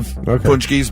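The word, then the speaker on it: pączki: They do different types of punchkis, but yeah, Polish dessert. And you wouldn't know it's pronounced punchki by the way it's spelled.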